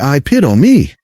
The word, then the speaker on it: epitome: But it's actually epitome. 4 syllables. The stress is on the 2nd syllable.